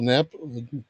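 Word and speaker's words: GNAP: sent the reference to gnab or nap depending on how you want to pronounce it so this is one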